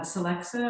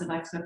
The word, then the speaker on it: Celexa: really good and um i take celexa i had pronounced alexa for about 25 years and so i always